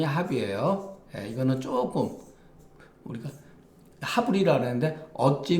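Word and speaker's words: 盍: 자, 안영과 계로가 선생님을 모시고 있는 상태에서 모시고 있으려니, 공자가 말하기를 이 합이라고 하는 것은 발음이 합이에요.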